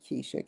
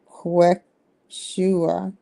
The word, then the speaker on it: Quechua: No, that's not Keisha, Kimberly. Quechua. Quechua.